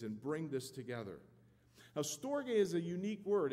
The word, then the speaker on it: storge: storge it's kind of a weird word to pronounce but it's storge which i think this morning may be the